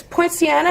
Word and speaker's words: Poinciana: And so for my listeners, I want to say that I'm sitting here with it's Poinciana?